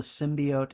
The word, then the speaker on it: symbiote: pronunciation you don't like symbiote cuz I've heard other people pronounce it symbiot and I mean like I don't care the OT to me says oat symbiote but you know uh